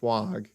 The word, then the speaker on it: FWOG: But anyway, so back to FWOG coin, FWOG, because it's spelled with a W.